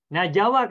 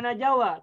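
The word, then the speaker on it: نجا: Tetapi najawa kan tidak boleh dibaca najawa, tetapi bacanya menjadi naja saja. Tidak boleh menjadi najawa, tetap naja. Wawunya tak muncul.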